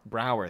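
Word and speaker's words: Braugher: good humor and Andre you know how to say his last name Brower Brower thank you yeah it's spelled weird I had to hurt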